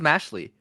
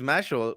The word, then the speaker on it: Mashle: Is it Mashel? I thought it was Mashley. I thought it was Mashley, but apparently it's Mashel according to the freaking almighty Christina.